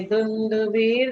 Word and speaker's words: दुंदुभीर: घोषण घोषक सन, हे दुंदुभीर ध्वनति ते यश प्रवादी। ये जो र है ना ध्वनति के ऊपर, वो दुंदुभी के आगे आ जाएगा। हे दुंदुभीर ध्वनति ते यश सह प्रवादी, ऐसा प्रोनाउंस करेंगे इसको।